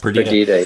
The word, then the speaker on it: Perdita: Now the last album, 2020's Perdita. Am I pronouncing that right? Yes. Perdita, yeah.